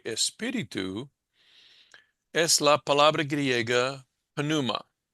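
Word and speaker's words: πνεῦμα: En griego se pronuncia cada consonante. Nosotros usamos diptongos, etcétera. Decimos, bueno, por ejemplo, en inglés, este sería pronunciada pneuma, ¿sí? Evitamos la P, o la P es silencio, ¿cómo se llama? Silencioso, algo así, Muda. ¿sí? Muda. Esa palabra es muda, esa letra consonante es muda.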